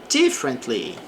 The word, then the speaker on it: differently: Differently. Então aqui temos a frase: "Se thinks differently about the issue." Então ela pensa diferente. Então também a sílaba forte fica aqui no D.